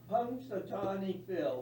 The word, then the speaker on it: Punxsutawney Phil: anybody pronounce the hedgehog's name? Punxsutawney Phil. Phil. Say it louder now. Punxsutawney Phil.